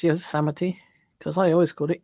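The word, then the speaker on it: Yosemite: Evie to say that because I always said Yos might but it's ye that's the only way I learned how to spell how to pronounce y samity because I always got it yite you did a I was in good company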